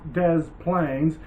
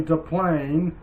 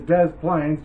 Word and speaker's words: Des Plaines: plaines river and by the way it is pronounced des plaines a lot of people say to plane or the deep or the plain river and that's not how it's pronounced it is des plaines just ask anybody if you pronounce it wrong